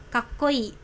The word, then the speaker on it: kakkoi: Nah keren itu kakkoi, ingat ya i-nya sedikit dipanjangkan jadi kakkoi ya, seperti siapa ya, idol Korea gitu ya, kakkoi gitu.